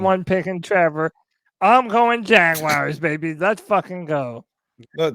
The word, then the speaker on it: Jaguars: It's not Jagwires. That's how it's pronounced. Goodness. It's gracious. Jaguars.